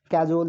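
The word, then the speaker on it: cajole: कैजोल ये एक Bollywood actor के नाम से भी मिलता जुलता सा है।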